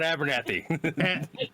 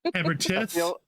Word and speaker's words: Abertith: He's not Abernath. Abernath. I keep doing it too. Abertith. There you go.